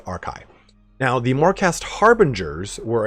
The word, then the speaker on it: Archai: the lore morast archai that's a r CI c h AI c h AI sorry that could be a different pronunciation but I'm going with arai now the morast harbingers